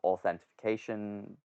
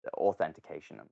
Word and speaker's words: authentication: do a lot of authentification. Authentication. I keep saying authentification. I I don't know why I add that extra syllable.